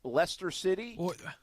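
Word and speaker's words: Leicester City: even say it right is it lester city yes it is well done and that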